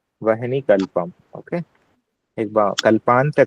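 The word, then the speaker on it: वह्नि: वाला और धनुष का और लास्ट वाला है वहनी कल्पम आधा ह और पूरा ना ह में आधा वहनी है ना वन ही नहीं है वहनी है वहनी कल्पम ओके एक बार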